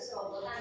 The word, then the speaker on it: serobotan: Dalam pelafalan kata dengan tempo yang cepat, kata ini tuh mengalami penyederhanaan bunyi yang dimana konsonan T yang ada di tengah kata itu seringkali dihilangkan.